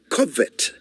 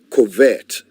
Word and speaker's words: covet: to lust after and in English it is covet not covert which is why you